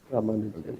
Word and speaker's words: Ramanujan: Ramanujan, yes. It's like the A is like less pronounced, basically.